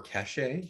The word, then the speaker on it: cache: it kind of erases the cache or cachet depending on how you pronounce it the cache for the